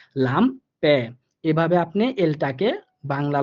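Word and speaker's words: Lampe: সেম ভাবে দেখেন লাম্পে, sorry লাম্পে, অর্থাৎ লাস্টে এ পাইছি এজন্য হালকা একটু এর মতো উচ্চারিত হবে, লাম্পে।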